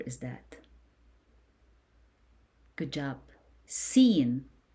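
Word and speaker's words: س: Seen. Seen. You pronounce seen as S in English.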